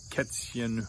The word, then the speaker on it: Kätzchen: Or Katze could be Kätzchen. Or Glas would be Gläschen. But anything that ends with Chen, like Kätzchen, Hündchen, Gläschen, Mädchen, is pronounced with a soft CH, the sh, chen.